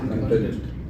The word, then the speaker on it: content: would say content okay now there are two pronunciations for the same word with the same spelling content when you say it's the script or the material that you're presenting so it's your you know the the content that you have content can be a verb and an adjective that says satisfied or satisfying so if you use